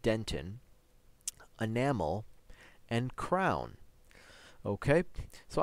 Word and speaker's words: dentin: We'll be studying roots, pulp, dentin, that word is pronounced dentin, enamel, and crown.